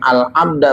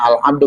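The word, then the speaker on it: العبدُ: Wa ma jalakia, dan perkara jalakia yang ia temui, mayasna'ul, ada yang al-abda, bacanya al-abdu, kalau al-abda berarti maf'ul.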